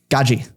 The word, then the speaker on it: Gadzhi: yes how do you say his last name gaji gaji gaji gaji okay I always I always mess